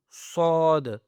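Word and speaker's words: صاد: And here we have sod. Okay, this is a bold word with the full mouth, make it from your full mouth.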